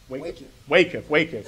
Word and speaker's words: WACIF: And how do you pronounce the acronym? WACIF.